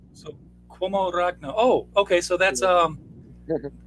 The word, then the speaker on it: Uomo Ragno: okay, There's a, so Cuomo Ragno.